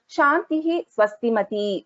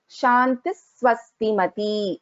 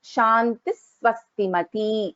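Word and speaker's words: शान्तिः स्वस्तिमती: So when we are pronouncing this, we don't pronounce it as when in the stotra, Shantihi Swastimati. We pronounce this as Shantis Swastimati. Shantis Swastimati.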